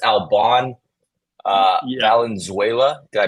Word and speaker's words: Albane: It's not Albane, it's Alban, even though it sounds like it should be Albane.